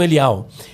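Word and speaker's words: Eliel: Por exemplo, meu nome Eliar ou Eliarro, né? Ou Elial, né? Os judeus pronunciam Elial.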